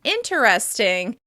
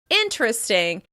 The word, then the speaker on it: interesting: This word has several different pronunciations, including "interesting," "intresting," and "inneresting" with that flap /t/: "interesting," "intresting," and "inneresting."